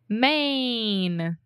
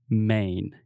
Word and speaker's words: Maine: yeah i mean it's the same way that we say main right just like main street or the main point of a topic or something yeah yeah